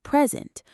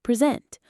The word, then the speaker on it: present: Another example is present. Noun present. Verb present.